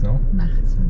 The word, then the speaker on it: Martins: Then we're going to go to the second city that is called Martins or Martins. But I think you guys pronounce Martins. No, Martins. Martins. Yeah.